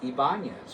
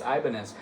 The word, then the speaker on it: Ibanez: Um, so yeah, do not criticize my pronunciation saying it's Ibanz or it's Ibanz. They're both correct.